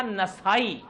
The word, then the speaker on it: نسائی: حالانکہ بڑا فرق ہے نسائی اور اصل تلفظ ہے اس کا نسائی، نون پر زبر ہے.